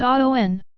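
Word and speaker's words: Awen: The Aun. Pronounced Aon.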